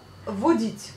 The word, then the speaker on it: водить: Ça vient du mot водить, donc conduire. Водитель. Deux mots. Водить. Conduire. Водить. Encore une fois, vous prononcez le A, mais vous écrivez bien le O.